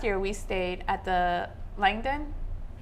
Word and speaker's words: Langham: the chef movies they featured it it's actually pronounced Langham Hotel it's walkable to your favorite pubs restaurants